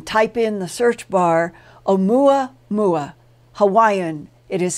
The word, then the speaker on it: Oumuamua: his conviction that the long strange object called omuamua that came near our sun and solar system